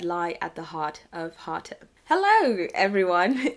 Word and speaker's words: Harta: going by the name of Hata, pronounced in Japanese as Haruta.